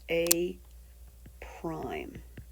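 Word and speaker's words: A′: So, if the pre-image were labeled A, then the image, or the new shape, would be labeled with an A and an apostrophe, and this is pronounced A prime.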